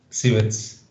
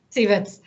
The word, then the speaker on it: Cieverts: how to pronounce your surname how do i pronounce it stevens stevens and uh this is an interesting um transition